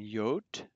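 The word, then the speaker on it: Jot: um but um so the j is already pronounced like a y a big difference um ca elf sorry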